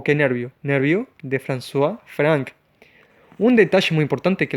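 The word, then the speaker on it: François-Franck: nervión de francois frank como lo dije se pronuncia françois frank se escribe francois frank entonces que tres cosas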